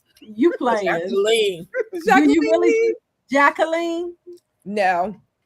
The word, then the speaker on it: Jacqueline: Jacqueline. You playing? Jacqueline. Do you really, Jacqueline? No. I didn't think so. It's the French pronunciation, which is the correct pronunciation of my name, but I say Jacqueline.